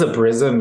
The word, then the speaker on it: Obrizum: Obrizum? It is Obrizum, yes, and I like that question. So do our founders. Obrizum is the Latin expression for pure gold, and